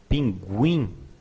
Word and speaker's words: pinguim: Pinguim, we do pronounce the U.